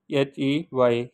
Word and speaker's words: ح: but but in Udu we called it he h e y hey this is pronunciation so we write like this same like